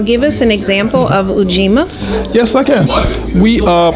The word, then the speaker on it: Ujima: We are now on the third day of Kwanzaa, known as Ujima. That's U-J-I-M-A.